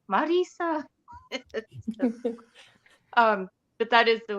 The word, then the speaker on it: Mirriam: Erin I love how you say my name Marisa um but that is the way you say